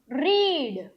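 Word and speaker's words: read: Spelling तीनों का same होगा। लेकिन वी टू और वी थ्री को हम क्या प्रोनाउंस करेंगे? रेड। क्या? आर ई डी। रेड pronounce करेंगे। ओके? तो ही हैज रेड आएगा। यहां पर रीड नहीं आएगा। आर ई डी स्पेलिंग को हम आर इ ए डी ही लिखेंगे। लेकिन इसका प्रोनाउंसिएशन जो है वो रेड हो जाएगा।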